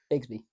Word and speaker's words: Bigsby: And also, excuse me if I mispronounce his name, but Tank Gidsby, man. Nope, Bigsby. Bigsby, excuse me.